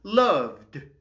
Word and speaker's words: loved: Celui-ci se prononce loved.